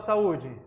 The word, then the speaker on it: saúde: palavra saúde tem acento Qual é a sílaba tônica da palavra saúde ela é uma oxítona paroxítona ou proparoxítona ela é uma paroxítona Olha que legal se